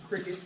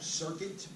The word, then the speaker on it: Cricut: calm is the website it's pronounced a cricket I have a lot of times with this I'm going dyslexic it keeps coming up circuit I think we've gotten